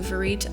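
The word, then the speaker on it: vérité: Um, but it's actually a French word pronounced closer to verit.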